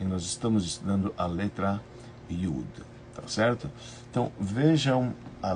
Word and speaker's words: Yud: letra que se chama Yud. Y-U-D. Ela tem um som de I, né? Então ela sai Yud. Então ela se escreve Y-U-D, como se fosse o Ya, né?